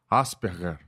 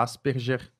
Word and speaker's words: Asperger: um nome alemão alemão é um nome Alemão então é uma pronúncia alemã Asperger acho que é isso então tem gente falar aspergers para mim tanto faz então tanto faz então